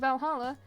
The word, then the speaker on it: VA-11 HALL-A: The name sounds silly and a bit hard to pronounce, but good thing it's actually called Valhalla. The funny numbers and letters are just a code.